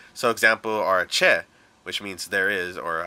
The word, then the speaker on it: che: C, like the letter C alone, when followed by an E or an I, makes a ch noise, like cheese. So example are che, which means there is,